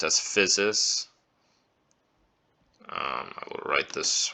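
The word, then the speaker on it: physis: usually pronounce this as usia this usually gets pronounced as physes um I will write this one below uh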